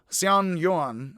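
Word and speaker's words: Xuanyuan: long and yellow emperor xian yuan um the x is pronounced hs a little bit were said to have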